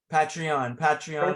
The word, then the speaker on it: Patreon: Is that how it's pronounced? Patreon, like Patreon, thank you.